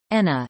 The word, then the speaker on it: Enna: Enna, Italian pronunciation, na, listen, Sicilian, Castrugiuvani, Ancient Greek, Enna